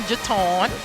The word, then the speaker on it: Jaton: Yes, that's them under Miss Jaton Johnson. She told me how to pronounce her name like Baton Jaton.